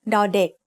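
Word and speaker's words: ด เด็ก: Another middle-class consonant is ดอเด็ก Dek means child. As the initial consonant of a syllable, ดอเด็ก makes the sound d, just like the letter D in diamond.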